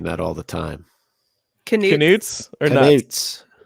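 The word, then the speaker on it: Knut: I forgot to pronounce canutes. I say nuts. I had to look it up because my mind wants to say nuts.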